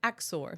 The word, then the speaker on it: Axor: And again, how do you pronounce this brand? Axor.